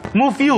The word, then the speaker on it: Move You: Gimana bacanya? Move You. Move You. Move You. Jadi Move emang you.